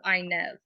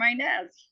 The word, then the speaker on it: Inez: knows this it's like how do you pronounce it Inez i n e z but you can pronounce it Inez or Inez she sings it Inez but my mom always calls it Inez but if you say